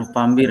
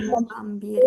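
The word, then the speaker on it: نوفمبر: Jadi teman-teman untuk bulan ini kan sama ya kayak di bahasa Arab ya, oh kayak di bahasa kita ya, cuma ya emang agak beda di beberapa huruf dan panjang pendeknya gitu aja ya.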